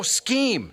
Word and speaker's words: scheme: Yeah, it's a big sheam they're working on. Why are you saying it that way? Isn't it pronounced sheam? Sheam. That's the way I say it. Oh, scheme.